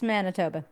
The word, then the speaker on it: Manitoba: It's Manitoba. Yeah, it's in the Wait, did I say it right? Yeah, Manitoba.